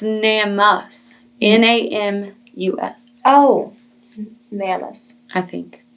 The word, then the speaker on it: NamUs: I think it's pronounced so, NAMUS. Yeah, like name us.